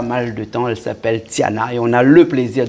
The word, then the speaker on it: Tiana: Oui, bien sûr, comme ça s'écrit T-I-A-N-A. Donc, il est normal que les gens m'appellent Tiana, mais en prononciation malgache, c'est Tin.